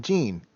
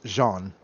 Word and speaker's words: Jean: why we're asking gene still feels weird because that's still my mom's name ah pronounced as such too yes pronounced and spelled as such normally when i see that name it's i've always seen it pronounced as jean oh yeah yeah the uh the french masculine i don't know why